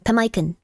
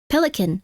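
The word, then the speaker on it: pemmican: It's pronounced similar to pelican.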